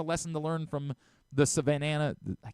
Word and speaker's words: Savannah: I keep saying the Savanana like I'm adding another. Hey, maybe they can learn something. Savannah bananas. I want to make it Savannah. The same number of uh syllables in both words.